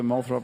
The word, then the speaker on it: Molthrop: Morgan, I'm confused about whether Molthrop is spelled with an A or an O at the beginning. M-A? It's O. It's pronounced like Molthrop, It's but Molthrop. it's with an O.